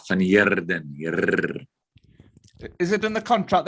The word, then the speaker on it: van Heerden: I understand you have to roll your R. Yeah, van Heerden.